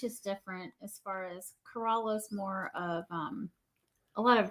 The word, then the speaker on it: Corolla: He's like, man, it's not Corolla. It's not a car. It's Corolla.